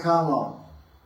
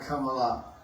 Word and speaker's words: Kamal: It's called Lila Kamal. The A is silent. It's called the Dhamma. Arjun. The A is there, but it's a Sanskrit term. It's called silent A. Arjun, Kamal, not Kamala.